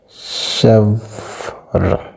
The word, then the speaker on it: chèvre: So we have chèvre. So this E has a consonant at the beginning. So the first criteria has been passed. Then there's an E, a silent E at the ending of the word.